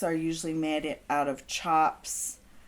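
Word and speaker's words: tjaps: usually made out of chops which is spelled t-j-a-p-s and it's pronounced chops is what they stamp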